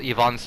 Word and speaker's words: Ivan: it's a film called Yvonne's childhood or Ivan's childhood as some people say I believe the proper believe the proper pronunciation at least in Russian would be Yvonne that's how they refer